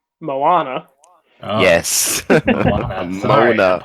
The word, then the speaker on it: Moana: Mona. Mona. Tell us about the Rock. So it's actually pronounced Moana.